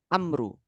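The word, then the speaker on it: عمرو: Ya, ada wawunya memang untuk membedakan Amru. Sebenarnya itu bacanya Amru. Kenapa dibaca Amrin? Karena mudhof ilaih. Mudhof ilaih dari Aba.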